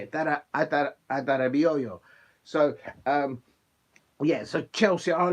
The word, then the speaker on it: Adarabioyo: Adarabioyo.